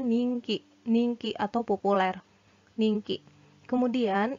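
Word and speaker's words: 人気: adalah kosakata baru dia Kalau digabungkan dengan kanji ini tanjiki atau gas dibacanya menjadi ninky ninky Hai ninky bacanya nih ya bukan Jin lagi bukan Dito lagi tapi Ning Ki yang artinya populer Hai nah ini janji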